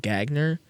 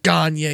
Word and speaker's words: Gagner: Not Gagner. His last name is spelled Gagner. In my video, I said Gagner, and You got lit up. Oiler fans were pissed. They're like, "It's Gagner, you stupid idiot."